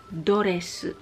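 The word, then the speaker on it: ドレス: Pero, ang pag-pronounce ay doresu.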